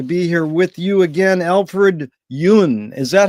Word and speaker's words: Alfred Yun: And it's a real honor and a pleasure to be here with you again, Alfred Yun.